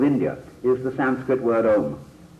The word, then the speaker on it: Om: is the Sanskrit word Om. And Om is spelled out A-U-M, because it takes in Aum, the range of the voice from the back of the throat to the lips.